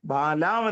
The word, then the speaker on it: ബാലാം: ഈ ബാലാമിന്റെ, ബിലയാമിന്റെ, ഈ മലയാളത്തിൽ ബിലയാം എന്ന് പറയുന്നത് ബലാമയ, ബാലാം എന്നാണ് ഇംഗ്ലീഷിൽ.